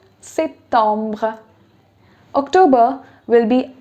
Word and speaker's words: septembre: Now that you know the pronunciations, it will be septembre. Septembre.